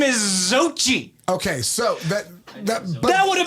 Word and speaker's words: Xochitl: Her real name is Xochitl.